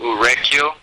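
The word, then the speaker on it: Urequio: e q u i o okay it's you pronounce it uru yeah that's in mitraan that's in the state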